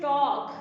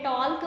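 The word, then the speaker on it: talk: यहाँ पे next one इज टॉक। कभी आपने टॉक को हमने टॉल्क पढ़ा है? नहीं पढ़ा ना, दैट मीन्स के एल ल साउंड जो है that is the silent letter.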